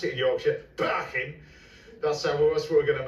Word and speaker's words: Parkin: And that's Parkin, or as we pronounce it in Yorkshire, Parkin.